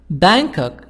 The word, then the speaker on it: Bangkok: nice jewelry in bangkok bangkok g silent you shouldn't miss the weekend market is the best place for bargains 4. where can ability where can i get some nice jewelry in bangkok b advice you shouldn't